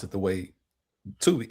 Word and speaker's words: Tubi: Well, no, you don't have to be specific because it's not spelled the same way, but you can pronounce it the way Tubi.